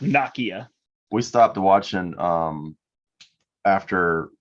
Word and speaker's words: Nakia: with Bruno there's this I think it's Nokia did you watch the show no I did not watch the Show Gotcha yeah it's pronounced Nakia we stopped watching um